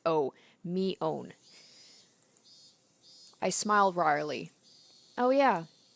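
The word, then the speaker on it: Mion: couple of different pronunciations so I have to remember it's Oh me own I smiled wryly oh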